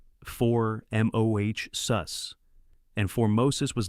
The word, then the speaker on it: Formosus: Say it like Formosus.